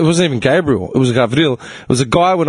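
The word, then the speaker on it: Γαβριήλ: It's the Greek pronunciation of Gabriel. How's that? Gavril. Right?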